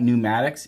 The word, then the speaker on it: pneumatics: now let's talk about pneumatics yes it starts with a p the p is silent it's a lot like